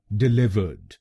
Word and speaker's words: delivered: और ये ध्यान में रखिए कि हमको दूसरे शब्दांश पर यानी LIV पर जोर डालना है। डिलीवर्ड। डिलीवर्ड। गलत प्रोनाउंसिएशन में हम पहले शब्दांश पर यानी DE पर जोर डालते हैं, डिलीवर्ड। तो इसको डिलीवर्ड नहीं बोलिए, इसको बोलिएगा डिलीवर्ड।